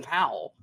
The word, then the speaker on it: Powell: fantastic in this film because he's Glenn pal when Glenn pal is Glenn Powell which is just natural